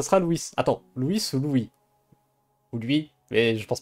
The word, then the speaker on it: Luis: Louis attends Louis se Louis ou lui mais je pense pas c'est pas lui c'est à mon avis c'est Louis ça se prononce à la à l'espagnol à la espagnol prof de